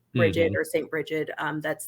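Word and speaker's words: Brigid: goddess breed um or there's several peninsula pronunciations for that name technically that one should be one of the closer to proper ones but for those that don't know it's it's bridgette a lot of people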